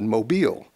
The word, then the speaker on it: Mobil: you will but also to make the word be pronounced correctly because a lot of people said mobile and put the emphasis